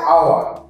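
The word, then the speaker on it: hour: আওয়ার। এইচ ও ইউ আর কি হয়? কেউ হাওয়ার বলবে না, হয় উচ্চারণ হবে না। আওয়ার, আ দিয়ে স্টার্ট হচ্ছে আওয়ার।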